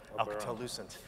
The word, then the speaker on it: Alcatel-Lucent: There's been lots of mergers and acquisitions, and even you mispronounced it. It's Alcatel-Lucent.